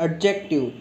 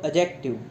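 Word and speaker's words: adjective: ठीक है, तो इसमें भी उच्चारण में बहुत सारे बच्चे गलती करते हैं और बोलते हैं एडजेक्टिव, लेकिन इसमें जो डी है इसका उच्चारण नहीं होता है, ये साइलेंट रहता है और बोलते हैं इसको एडजेक्टिव।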